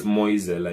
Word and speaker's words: Moyesela: So now I can see there's like Moyesela. I don't know if I said it correctly. No, you said perfectly. I mean, there's no master of pronunciation. It's Moyesela in Zulu.